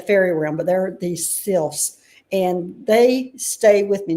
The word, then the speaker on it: Sylphs: call themselves I have to read this, the Sylphs. I never know how to say this. SYLPH. They're the Sylphs.